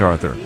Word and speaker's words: Arthur: Call me Arthur. Stress on the first syllable.